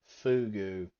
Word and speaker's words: fugu: So it takes, if I remember correctly, a decade of uh preparing fugu or Fuji, what is it?